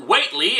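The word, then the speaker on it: Whateley: a mysterious man named what lee and i know i'm supposed to pronounce it weightly after the minor character from one hp lovecraft story but screw that this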